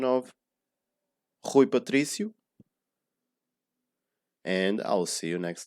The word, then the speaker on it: Rui Patrício: patricia so see how much time i was pronouncing hui and tree compared to per and see who patricio so one last time i hope this helped